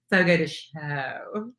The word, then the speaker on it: Fogo de Chão: And so when you It's And but I feel like an when I say Fogo de Chão, cuz I feel like pretentious? feel like I know how to say it and you don't. It's Fogo de Chão.